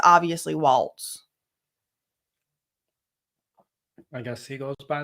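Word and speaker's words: Walz: home state of democratic Vice Presidential nominee Tim Walls with Mary lammer of Twin Cities PBS and Mary I know you've been you've been tracking why you think they pronounce his name walls when it's obviously Walts I guess he goes by that I don't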